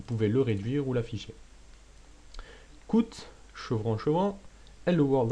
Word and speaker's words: cout: le réduire ou l'affiché coûte chevron shoah est le world entre guillemets chevron achevant endel point virgule les chevaux sont ces petites choses là alors coûte normalement ça se prononce si out mais j'ai dit écoute